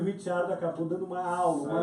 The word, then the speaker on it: Ricciardo: Pois é, o Ricciardo, né? E foi Ele fala demais. Ricardo, mas eu prefiro a pronúncia italiana, até porque eu acho que ano que vem ele vai estar na Ferrari, viu?